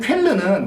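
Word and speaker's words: Cölln: 제가 지금 말씀드리는 쾰른은 우리가 쾰른 대성당 그 쾰른이 아닙니다. 이것은 예, 약간 스펠링이 다른데요. 발음은 비슷한데 그건 이제 약간 쾌연, 약간 그런 발음이고 요거는 이제 쾰른 그런 발음인데 다른 곳이 있구나.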